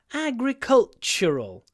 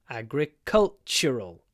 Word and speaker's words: agricultural: focusing on the word Agricultural and again T is pronounced with a CH agricultural agricultural College the next